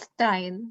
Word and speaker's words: Stein: Am I pronouncing it correctly? It's Stein, but it's fine.